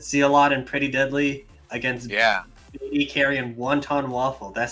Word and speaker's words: BaeDCarry: BaeDCarry.